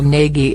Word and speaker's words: Nagy: The proper pronunciation has the A sound from wall, and the G is a letter in the Hungarian alphabet that doesn't exist in English.